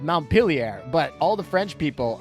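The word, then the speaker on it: Montpelier: Vermont I think and in that City they call it mount pilier and so this is a U.S ship so this is definitely called montpilier but all the French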